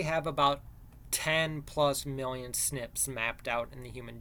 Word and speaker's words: SNP: these differences are called snips or single nucleotide polymorphisms so SNP is you pronounce that snips that's where your genome